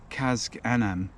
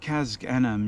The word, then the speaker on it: Casg Annamh: well known Distillery and it is the abalawa kazak Anam so Kaz anim you'll see is spelled with c-a-s-g-a-n-a-m-h and that's actually Gaelic for